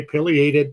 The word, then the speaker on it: pileated: The bird is named after the red crest, which is known as the pileum scientifically. That's why I choose the pileated pronunciation. If you say pileated, that's perfectly okay too.